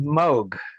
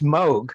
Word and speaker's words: Moog: to pronounce it properly Moog a few years later he he came out with an instrument called the Rogue the Moog Rogue and he did that so that people would hopefully learn oh yeah that how